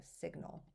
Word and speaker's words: signal: When we add suffix al, we make signal, which then makes that G pronounced. We hear that g sound, so signal.